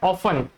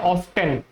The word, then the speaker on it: often: इस वर्ड के ना 2 पॉसिबल प्रोनाउंसिएशन होते हैं। एक तो होता है ऑफन, ऑफन, और एक होता है ऑफ्टन।